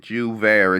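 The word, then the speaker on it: J'ouvert: word hold on jus there that's how you pronounce it jouvert it turns out it's a festival and I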